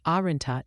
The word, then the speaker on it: Arynta: Arenta, pronounced Arenta, is the brand name for Lisdexampetamine dimesate, an oral solution taken once daily in the morning.